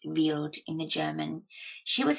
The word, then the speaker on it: Wild: spelt wild and means wild but is just pronounced vealed in the german she was a young one